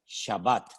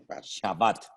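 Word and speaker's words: שבת: en el idioma bíblico la palabra es shabbat shabat de la cual procede con las mismas letras pero cambiando la pronunciación vocálica la palabra chebet que significa sentarse o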